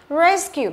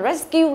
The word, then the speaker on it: rescue: Các bạn đáp là rescue là sai đúng không? Phải là rescue. Rescue. Đó, nhấn vào cái âm thứ nhất rescue.